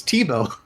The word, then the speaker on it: Thibaut: It should be Tybalt, but it's French, so it's Thibaut.